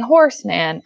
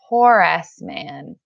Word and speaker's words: Horace Mann: education not John doing Horace Mann I'm not saying Horseman I'm saying Horace Mann AC e Horace Mann